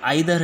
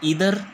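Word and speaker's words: either: American English, ठीक है, तो इसमें जो आइदर है वो किस में बोलते हैं, ब्रिटिश इंग्लिश में, और इधर किस में बोलते हैं, अमेरिकन इंग्लिश में, ठीक है। तो दोनों ही प्रोनाउंसिएशन ठीक है, बट एक्चुअली हम जो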